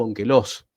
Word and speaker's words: Onkelos: Entre ellos, el más importante es el Targum Onkelos, o Onkelos, ¿sí? Como lo quieran pronunciar.